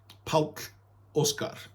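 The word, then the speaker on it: Páll Óskar: o k a r Paul and but you pronounce it P Oscar all right and you can look up his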